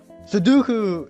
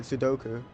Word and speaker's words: Sudoku: Sudoku!